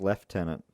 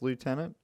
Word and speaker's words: lieutenant: think in England it's leftenant I think in America it's lieutenant and it's spelt the same but it's pronounced differently anyway I'm not important